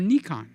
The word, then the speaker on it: Nikon: can you say Nikon you could say Nikon one of two ways Nikon or ncon so you get those